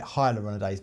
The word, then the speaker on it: hyaluronidase: People call it hyaluronidase, but it's spelled hyaluronidase.